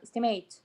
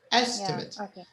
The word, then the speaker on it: estimate: it from the verb estimate uh the here when it's a noun the stress is on the E estimate estimate but the other one is estimate estimate so it's on the mate oh yeah okay uh